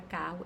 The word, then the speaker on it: carro: porém só pronuncio 1.se nesse outro caso da palavra carro eu tenho dois erres e pronuncio só um o e existem situações